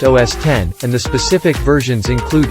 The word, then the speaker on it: OS X: macintosh computers or macs all recent versions are known as os x pronounced os 10 and the specific versions